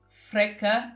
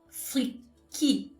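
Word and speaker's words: freekeh: in it and uh was pronouncing it fre no I said like frea or something and the waitress replied and then she started repeating it over and over no no she said freaky freaky and I said I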